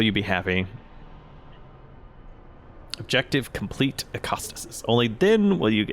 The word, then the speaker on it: Echostasis: you could just complete echo or acasis I'm sorry pronounce it the the Greek way only then will you be happy objective complete acostas only then will you